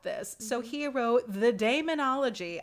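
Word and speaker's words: Daemonologie: So, he wrote the demonology. I say Damon because it's like demon, but it's spelled D A E. M O N O L O G I E.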